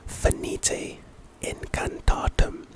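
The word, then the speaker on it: Finite Incantatem: know what I mean the next spell is fenite in katum and the type is a spell pronunciation fenite incantatum purpose terminates most spell effects Harry Potter and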